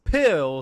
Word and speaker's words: pill: podcast and that is pill spelled with an s but it's silent much like the s in spain which is where wrestle kingdom